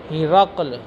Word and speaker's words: ہرقل: جو روم کا بادشاہ تھا ہرقل، ہا کے نیچے کسرہ اور را کر فتح ہے، قاف ساکن ہے. ہرقل یہ زیادہ بہتر اور فصیح تلفظ ہے.